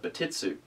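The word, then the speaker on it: Bartitsu: in the martial art Barret su commonly believed to be a mispronunciation of bat it's ooh in fact the martial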